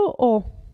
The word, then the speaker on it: ho: il verbo avere io ho vedete che la hack non si pronuncia tu hai lui o